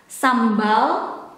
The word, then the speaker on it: sambal: And the chili sauce in Indonesian is sambal. But we casually pronounce it as sambal, sambal, sambal, sambal.